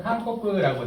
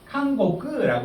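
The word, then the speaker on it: 韓国: 이런 것들을 한번 좀 알고 계시면 좋을 것 같고 한국 관련해서 칸코크라고 되어 있는데 칸고크라고 하는 것도 있거든요. 칸고크, 강고크 그 차이 요게 감옥이라는 뜻으로 완전히 바뀌어버리죠.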